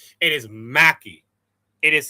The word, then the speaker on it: Mhakey: The way you pronounce my name is pretty much simple. It is M without the H, A C K E Y. That's how you pronounce it. It's almost it's Mhakey. Mhakey. Or the same way you can do it is like Makey. It's like Mhakey. Mhakey. It's like Makey.